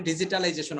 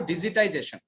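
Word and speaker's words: digitization: ঠিক আছে, ডিজিটাইজেশন আমরা যেটাকে বলি ডিজিটালাইজেশন, অনেকে বলি that is a wrong pronunciation অথবা রং ওয়ার্ড, আমরা বলবো ডিজিটাইজেশন।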